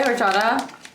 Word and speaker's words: horchata: That's not how you say horchata? The H is silent in horchata.